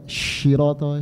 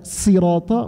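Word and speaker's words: صراط: Siratal ladzina an'amta, ihdinas siratal mustaqim, sad dibaca syirata, shin, tidak sah. Tidak sah. Lebih baik dibaca sin, jangan shin, karena dibaca sirata masih ada riwayat.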